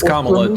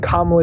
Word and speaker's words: Kamala: you think Kamala is better than Trump it's Kamala do you not know how to say ITA removing his mommy never taught you literacy huh mommy not present gr up criminal accusations what can comma do better than Trump Justice thank you so